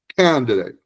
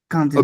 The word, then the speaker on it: candidate: Emphasis on the first syllable here. Let me I'll put that part in caps here. Hold on a minute. One second. Okay. Like that. Candidate.